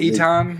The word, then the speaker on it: Ethan: Yeah, calling him that opposed to Ethan. Ethan's the Americanized way to say it.